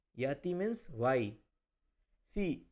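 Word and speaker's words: γιατί: Yati. Yati. Yati means why? See, if it is written gamma at the start, it is not pronounced like ga ga, it is like ya.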